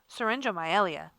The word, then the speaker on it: syringomyelia: okay so we say it like so Melia syringomyelia that's how we say it and what is